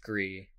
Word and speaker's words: Gris: These are the creators of, is it Gris or Gree? I think it's pronounced Gree.